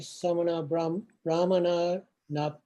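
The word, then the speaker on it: samaṇabrāhmaṇānaṃ: Ayang bhikkhave tatiyos samana brahmanam upakaliso yena upakilisena upakalitha eke samana brahmana na tapanti na basanti na virochanti. Yeah, you missed one syllable in this super long word, samana brahmanana. No.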